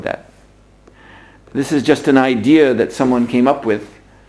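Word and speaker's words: ιδέα: You have in Greek the word idea, idea, it's pronounced in Greek.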